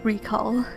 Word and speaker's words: Recall: And yes, I found out that it is pronounced recall.